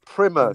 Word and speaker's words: Primer: Have you seen Primer? No, but I keep hearing about it. Apparently, it's meant to be pronounced Primmer, but what do I know?